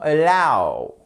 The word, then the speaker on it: allow: Ensuite, nous avons allow. Qu'est-ce qui se passe ici? Vous avez votre accent tonique qui est sur la seconde syllabe et là le a, hop, il est prononcé comme un e atténué.